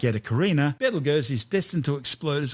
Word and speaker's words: Betelgeuse: It's a red supergiant called Betelgeuse, better known to most people these days as Betelgeuse. Don't say it 3 times. In ancient times, before centuries of mispronunciation, its name actually started out as Ibdal Yauza.